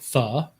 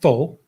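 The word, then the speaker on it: phở: And when you say the, it's not pho, like you hear a lot of Americans say. It's not a bowl of pho, it's the. And the pronunciation is because the O has a kind of like like a question mark without the dot connected to it, which is kind of like a question sound.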